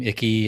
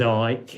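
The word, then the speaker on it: Icke: Yeah, I think it's a lot of people call him Icky and Ike and Yeah. Nobody knows how to pronounce his name, but his name Yeah. So his name his name's Ike.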